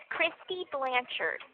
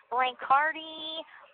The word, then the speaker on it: Blanchard: They're like, "Is it blankardi? Blanchardi?"